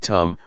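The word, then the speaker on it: ธรรม: we see this now the damama in Tai pronounced in the same way as the word tum which means to do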